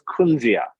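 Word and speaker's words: Kunzea: It's known as kunzia.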